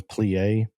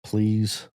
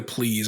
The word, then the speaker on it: Pleas: anything under the sun I've had people think I was French and pronounce my name plie uh with the spelling the most common is please and my wife's Paul